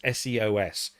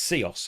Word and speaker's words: Seos: So Seos is one of our own brands, SEOS, but it's a word. So it's a made-up word, but it's our word. It's our brand for this particular technology. And it's Seos.